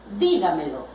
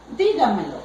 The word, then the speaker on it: dígamelo: Por ejemplo, yo digo, dígamelo. Dígamelo sería, diga algo para mí. Separo en sílabas. Dígamelo. Última, penúltima, antepenúltima, anterior a la antepenúltima. Vengo y acentúo.